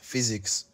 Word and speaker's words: physics: is physics physics yes physics but there's no F here whenever you see the letters P and H together it takes the place of f okay this one and